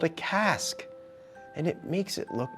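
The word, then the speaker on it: casque: the horn Bill's helmet is called a cask it rhymes with mask like ear Tufts and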